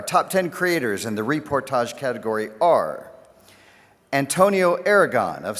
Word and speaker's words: reportage: Next up is Reportage, correct pronunciation. Reportage, or photojournalism.